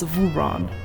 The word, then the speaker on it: Vurawn: refer to me to the closest thing in your language to my name it's Von V okay Admiral yes okay